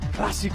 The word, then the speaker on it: Clásico: Did I pronounce that right, Christopher? Yep. Clásico.